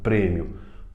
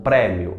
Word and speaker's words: prêmio: e não seu e o circunflexo para indicar que é fechado prêmio prêmium é fechado e não prémio aberto tá bom tem outro